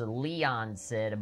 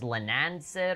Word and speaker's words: Leanan Sidhe: streisand effect of like i swear it was leon said but it's lanancid or something there's like two ends instead of just one n i've kind of been